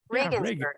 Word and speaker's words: Regensburg: How did I pronounce that right? Okay. Regensburg.